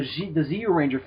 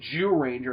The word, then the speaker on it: Zyuranger: It's not pronounced Zyuranger. It's pronounced Zyuranger. It's not so much Jew, like you dirty Jew. It's more like you.